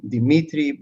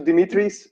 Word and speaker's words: Dimitris: My name is actually Dimitris. The thing is that when you have the S at the end, it's actually Greek.